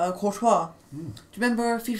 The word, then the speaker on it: Courtois: If you've never heard it before, would you say it like, Courtois. How do you know it'd be Courtois? I've never heard it. It's done, that's how you say his name.